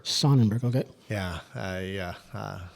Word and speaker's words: Sonnenberg: dark and how do you how do you pronounce exactly your last name my name is Jerry sonenberg sonenberg okay yeah I uh uh I'm one of